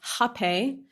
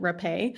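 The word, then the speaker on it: hapé: repay and then um apparently it's pronounced hape by them uh and by the indigenous but at rhythmia we called it repay so this is very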